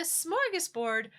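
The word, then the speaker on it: smörgåsbord: But a smorggas board uh smorggas board means just like having uh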